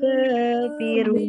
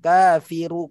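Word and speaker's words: الكافر: Kafiru, ketika diberhenti di sini tidak boleh bacanya kafiru karena tidak ada huruf setelahnya, maka dia harus ra-nya harus disukunkan. Kafir.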